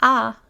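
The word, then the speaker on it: ㅏ: This ah sound can be the same as in father or ha-ha. To make this sound, open your mouth just like you would if somebody were feeding you. Say ah, ah.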